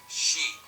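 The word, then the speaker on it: shi: seen as unlucky because it is sometimes pronounced she, or she, which is the word for death.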